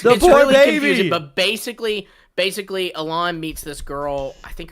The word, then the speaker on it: Alain: It's a screenshot of Elaine or of Allen. Elaine. How do you say Alain Alain?